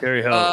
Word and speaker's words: Terre Haute: Southern Illinois is catching 4.5 in, how do I pronounce this again? I was watching Christmas Story. Terre Haute, Indiana. Yeah, Terre Haute.